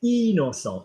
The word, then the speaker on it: innocent: Notice, guys, he said innocent. Even though it's spelled I-N, we don't say and because it's double N and then about.